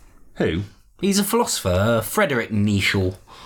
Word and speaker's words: Nietzsche: he's a philosopher Frederic neechal I think it's pronounced Nietzsche [